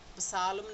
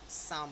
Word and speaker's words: psalm: सो साम PSALM, तो it's starting with the combination of PS, that's why P is silent, तो फिर P silent हो गया और साम बन गया। सालम नहीं बोलते हम इसे, साम बोलते हैं।